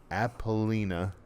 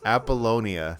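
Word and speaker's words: Apollonia: I can't remember name appina appolonia you're dropping syllables appolonia think bolognia myalon anyway appolonia very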